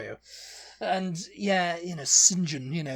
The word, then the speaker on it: St John: know how you know to pronounce the surname St John on as singen singen SM yeah what